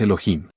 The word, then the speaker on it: Elohim: un final masculino pluralizado la H tiene sonido se pronuncia como J de manera que su pronunciación exacta es Elohim si la palabra Elohim